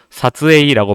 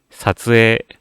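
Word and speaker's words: 撮影: 그래서 아까 발음도 사츠에이라고 발음을 하시는 경우 굉장히 많이 있고 세관이라는 뜻의 제이깡도 제이깡이라고 읽으시는 분들을 굉장히 많이 봐요. 입술에 힘을 주는 게 아니라 입모양을 유지시키려고 노력을 해주셔야 됩니다. 제이깡, 사츠에 이런 식으로 연습을 해주셔야 되는 단어들이고요.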